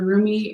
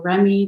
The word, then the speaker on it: Rumi: This is the Rumi, or Remy, depending on how you pronounce it, Oracle deck by Elena Fairchild.